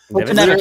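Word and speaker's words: Foltynewicz: Fultonevich.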